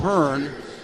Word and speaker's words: Byrne: averages 16 points again when he pronounces it burn and to the other